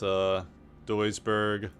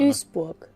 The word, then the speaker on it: Duisburg: Wikipedia articles have pretty good German pronunciations, which I try to use, because God knows I can't speak German. It's Duisburg. Listen. Duisburg. Duisburg. Duisburg.